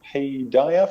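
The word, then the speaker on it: Paideia: for an english institution called i think it's pronounced payday forum p-a-i-d-e-i-a i think forum which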